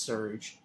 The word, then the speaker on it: Sergio: strange sounds at night the chief Sergio pronounced Serge says that a month